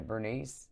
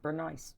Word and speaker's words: Brunese: That's how they spell my name though, Brunese. They spell it that way. Burnice. That is Brenice. Yes. My mom. They for some reason think I'm Bernice.